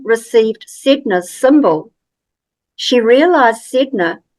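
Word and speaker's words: Sedna: sidna symbol she realized sidna is spelled like Sedona with the O she now feels her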